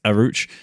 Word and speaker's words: El Arouch: I really want to pronounce that differently. Like, I almost said Crouch there, but it's Arouch.